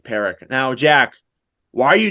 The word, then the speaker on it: Parekh: Parekh.